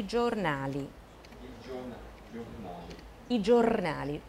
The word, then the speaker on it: giornale: 因为前面有一个子音。Giornale。